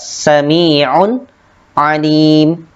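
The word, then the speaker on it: سميع عليم: Ain dibaca jelas. Di sini terdapat tanwin, kemudian bertemu dengan huruf ain, maka dibacanya yaitu jelas, sami'un alim.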